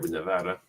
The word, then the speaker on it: Nevada: um when we picked El Nevada Nevada that's how they pronounce it there Nevada um it had the